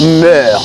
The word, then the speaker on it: mœurs: ou encore les mœurs ça se prononce meur même s'il est au pluriel remarque importante ou pas